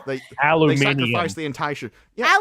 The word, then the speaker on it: Aluminium: I don't know who did it to them, but whoever it is, like they Aluminium. sacrificed the entire shit. Yeah, Aluminium, yes. Exactly. Thank you for Too many pronouncing letters.